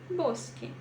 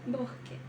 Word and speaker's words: bosque: fazer a aspiração desss então eu pronuncio Bosque Bosque mas há muita gente que pronuncia bque Ok vamos lá agora